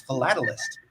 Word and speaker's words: philatelist: Well, you need to pronounce it right, otherwise you might get kicked off by the FCC. It's philatelist.